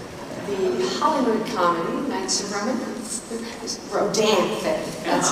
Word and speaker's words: Rodanthe: All right, let's look at Oliver Stone's World Trade Center and the Hollywood comedy, Knights of Rodanthe.